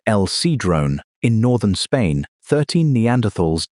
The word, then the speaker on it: El Sidrón: At El Sidrón, pronounced El Sidrone, in northern Spain, 13 Neanderthals died about 49,000 years ago.